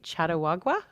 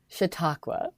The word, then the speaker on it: Chautauqua: about this um you've been lecturing can you pronounce this for me chattawagua Chautauqua I only did one lecture to be fair